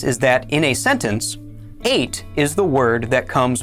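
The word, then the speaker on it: את: This word is spelled Aleph, Tav, and it is pronounced 8.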